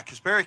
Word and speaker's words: Kasperi: Yeah, Kasperi Kapanen got a DUI, an aggravated DUI in Finland at the end of August.